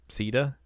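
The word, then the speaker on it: Caeda: Ceda.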